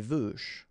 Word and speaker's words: veuches: Okay, les veuches. All right, don't pronounce the final S, and then the final E is not really present, so les veuches.